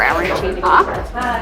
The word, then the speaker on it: arancina: If you're in Catania or other parts of Italy, or Sicily, I guess, it's arancino or arancina. If you say it wrong, you will get in trouble, so make sure you get it right.